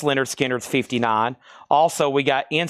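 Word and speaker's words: Lynyrd Skynyrd: Pronounced Leonard Skinner's, $59.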